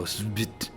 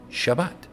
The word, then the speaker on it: Shabbat: You have to say Shabbat. And so you throw a default A in Aleph, the authority, between consonants. And so you get Shabbat, Shabbat. And that's why people say Shabbat.